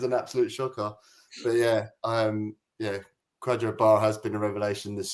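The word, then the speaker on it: Kwadwo Baah: on, and I think I called him Kendo Barr, so I got his name wrong, which is an absolute shocker. But yeah, Quadro Barr has been a revelation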